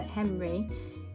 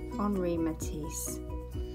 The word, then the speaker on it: Henri Matisse: You don't pronounce it Henry, you actually pronounce his name Henri Matisse.